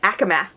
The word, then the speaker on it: ACOMAF: and Fury, ACOMAF, that's how you say it, ACOMAF.